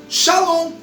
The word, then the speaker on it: shalom: Porque pacífica vem de uma palavra em hebraico chamado ou pronunciado shalom. Shalom. E shalom no hebraico é paz.